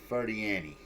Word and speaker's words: Ferdiani: The way his last name is pronounced is Paul Ferdiani.